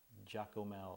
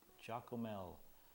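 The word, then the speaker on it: Giacomel: curado Jael and uh it's spelled g i a c o m e l Jael or chocolate milk Jael and curado uh lives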